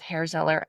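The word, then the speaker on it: Herr Zeller: Going to go with hairzeller. I don't really know how to pronounce it. Sorry guys. It's air. I think it's air. We talked about this with the noseratu episode if you listen to that. It was air knock.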